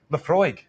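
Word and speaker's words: Laphroaig: Now, how do you really pronounce it? Lafroig.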